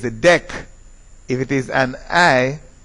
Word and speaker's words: dec: Of course, the way that it is pronounced, the C is sounded here, is because of the vowel that follows. If the vowel is an A or an O, it is dec.